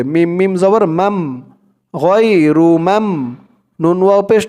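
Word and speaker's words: مَمْنُون: মিম দিয়ে এই মিম ধরবে, মিম মিম জবর মাম, غير মাম। নুন ওয়াও পেশ নু, غير মামনু। নুন দুই জের নিন, এখানে উচ্চারণ হবে মামনুন।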